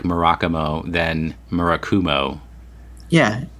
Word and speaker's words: Murakumo: least 10 years pronounced maracas mo for us the main thing that he pointed out is that there actually is not any accentuation on any of the syllables so you should pronounce